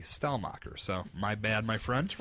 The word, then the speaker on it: Stelmach: last week's podcast when I called him shell mocker his name is actually style mocker so my bad my